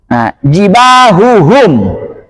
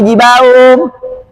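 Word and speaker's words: جِبَاهُهُمْ: Jibahuhum, jangan sampai jibahum. Nggak boleh samar, harus jelas. Jibahuhum.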